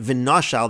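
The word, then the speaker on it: ונשל: What we're really doing is we're adding a pronunciation of either an aleph or a hey between the nun and the shin. When we read it v'noshal, that's really what we're doing.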